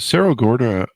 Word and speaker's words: Cerro Gordo: Is it Cerro Gordo? Am I pronouncing that right? There you go. That's right.